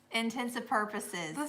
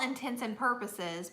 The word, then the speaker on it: intents and purposes: theater theater theater theater intensive purposes yes yeah it's it's for all intents and purposes but yeah some people say intensive purposes I'm like that's not